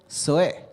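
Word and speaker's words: ζωή: Y la segunda se pronuncia zoe.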